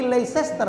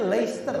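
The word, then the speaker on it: Leicester: Manchester iya betul Manchester Tapi leester bacanya leicer Pak Oh I bacanya leicer sesnya enggak dibaca Norwich itu bacanya Norwich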